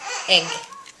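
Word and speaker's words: ägg: But it's spelled with the A with 2 dots. But it's pronounced egg.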